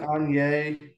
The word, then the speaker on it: Angers: and uh I mean it's spelled like angers but they say like on yours or something something like that is that right yeah on yay um I think is what what it sounds like um but yeah no